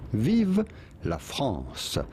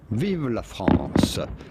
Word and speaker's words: Vive la France: Viv la France. Viva France. But it'd be fine in English if you cannot pronounce the French R to say Viva France.